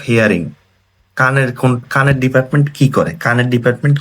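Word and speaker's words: 聞く: তো এটা হচ্ছে কি কিকু বা কিকির কাঞ্জি।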